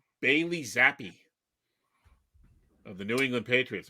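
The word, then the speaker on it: Zappe: Zappy or Zap? It's Zappi, I believe. I've heard a couple of talking heads pronounce it Zappi.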